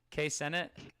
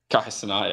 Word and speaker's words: Kai Cenat: How do you even say it? K Senat. Kai Cenat, yeah. Yeah, Kai Cenat.